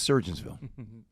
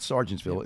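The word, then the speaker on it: Sergeantsville: It's Surgeonsville. It's not Sargentsville. It's Surgeonsville.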